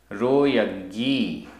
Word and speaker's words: रोयग्गी: रोयग्गी रोयग्गी आधा गा पूरा गा। रोयग्गी जा ण डहई डहई।